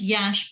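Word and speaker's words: Iași: I actually was in Yash, which is pronounced Yash but spelled IASI.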